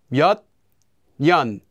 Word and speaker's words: 몇 년: And if the second syllable begins with the consonant 니은, the first consonant will become pronounced as 니은 as well.